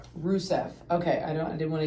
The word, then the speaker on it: Rusev: Rusev.